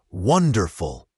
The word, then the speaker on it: wonderful: Again, have a becomes have a wonderful has the stress on the first syllable wonderful and evening often sounds like evening with a soft G at the end, sometimes almost silent.